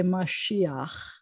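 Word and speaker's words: משיח: end of the word so you're not supposed to say you're supposed to say mashiach intentionally gave it to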